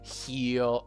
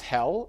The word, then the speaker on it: heel: The word is heel. Excellent. Magdalena. Not hell. Not hell. It is Oh, I hate this. Heal. So, double E and then L.